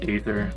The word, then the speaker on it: aether: a hybrid elemental between ether and light. I always pronounce it as aether because I'm weird. I've heard it both ways, so yeah, I say it both ways sometimes.